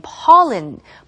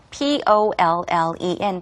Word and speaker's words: pollen: He said, because of dust and pollen. pollen이라고 발음을 하셨지만 정확한 영어 발음은 pollen이고요. P-O-L-L-E-N 바로 꽃가루가 되겠습니다.